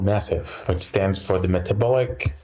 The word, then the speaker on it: MASEF: about it's actually called massive it stands for the metabolic Advanced steel hepatitis fibrosis core okay so the a is a short day not a long a okay I stand corrected